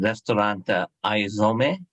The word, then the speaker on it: Aizomê: And Thelma, I meant to ask you earlier, is the correct pronunciation Restaurante Aizomê? I hope it is. Okay. And which crafts Japanese food with... Yes, that is.